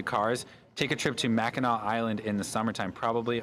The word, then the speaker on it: Mackinac: it's spelled Mackinac I learned only recently it's pronounced Mackinac um but they like it's it's a tourist